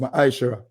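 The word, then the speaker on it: מעשר: verse 8 to 10 means tent in the hebrew and is pronounced maisha ten percent of every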